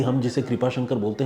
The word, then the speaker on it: कृपा शंकर: दीपिका ने भी कमेंट किया है और उन्होंने कहा है कि कुरूपा शंकर नहीं, कृपा शंकर।